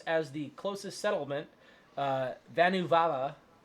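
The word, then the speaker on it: Vanavara: the closest settlement uh vanu vala i didn't make this up that's how you pronounce it um and unfortunately for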